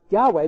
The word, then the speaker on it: Yahweh: Lord, that stands for the tetragrammaton, which was pronounced Yahweh, but which the people of Israel didn't pronounce later in their history for reverence, which means He who is.